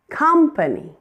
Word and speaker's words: company: Company. The first syllable.